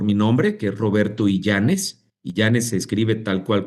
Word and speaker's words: Illanes: Mira, es muy sencillo encontrarme por mi nombre, que es Roberto Yanes. Yanes se escribe tal cual como lo escuchas y W L a n s.